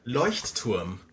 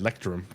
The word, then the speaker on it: Leuchtturm: How do you say well, I grew up in the right country for it. Leuchtturm. Leuchtturm? Lighthouse. Yeah, lighthouse. Is that what it really called? It stand for? Yeah, yeah. Nice. Leuchtturm. I can't say that as well as you, obviously, I feel but like the Americans say Leuchtturm or something like that. I said lectrum, but Lectern.